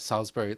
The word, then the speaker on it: Salisbury: wonderful Naval analyst Emma Salsbury and hopefully I've actually pronounced the name correctly as she said it's Salsbury like the steak uh but which is